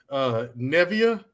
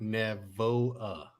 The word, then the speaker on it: Navoa: You know the only two people who pronounce that name correctly. Really? Yeah. Nevia, Nava. Okay, look, sound it out. Navoa. Oh Lord! That's how you pronounce that word.